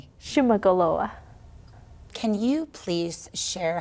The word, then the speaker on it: Shuman'olo:wa: Shuman'olo:wa. Lopez: Say it one more time for me. Peywa: Shuman'olo:wa.